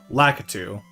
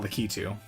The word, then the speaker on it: Lakitu: what it is, and they say in Mario Maker Lakitu, not Lakitu. So I think officially that is the pronunciation.